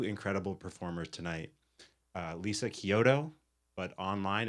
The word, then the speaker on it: Chiodo: Uh Lisa Kyoto, but online it's ch. you spelled with a ch but pronounced Kyoto and Eli Coleman.